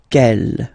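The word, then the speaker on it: quelle: The way to pronounce them ke masculine form here will be pronounced exactly as the feminine form here ke.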